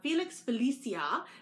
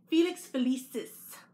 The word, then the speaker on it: Felix Felicis: taken it out of the bag and I mispronounced it last time I had said uh Felix Felicia but it's actually Felix felicis um and I'm probably mispronouncing so this is